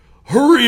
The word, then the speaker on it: Hurrey: I had this, DI that was just like, hurry up, Manor. There you go. That's all. Well, think of that when you pronounce my name. You'll get it right that way. Hurry.